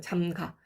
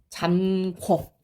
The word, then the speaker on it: 잠가: 의가 떨어지면서 잠가가 되는 거예요. 잠가. 그런데 사람들이 뭐를 착각해요? 잠가가 아니라 문을 잠궈.